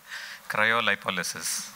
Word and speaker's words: cryolipolysis: Cryolipolysis. Gadbad kaya, ye bhi gadbad hai. There is actually a far cleaner pronunciation which I'm going to have the gentleman tell you. Cryolipolysis.